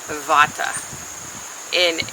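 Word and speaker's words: Bhatta: one that told me how to pron properly pronunciate narice vat and the the name bot is usually BHA a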